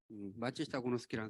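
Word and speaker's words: 松下幸之助: 마츠시타 고노스키라는 사람이 있어요. 또 읽겠습니다. 이걸 송하라고 읽으면 안 돼요. 일본 말이에요. 일본 사람 마츠시타라는 거.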